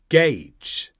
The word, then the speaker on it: gauge: a storm how do you say this word gagee gagee and this has two slightly different meanings